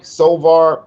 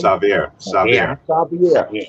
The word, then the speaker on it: Xavier: And my whole point was seeing that film and seeing and you saying what Sovar am I pronouncing it right? Say it again. The name? Xavier.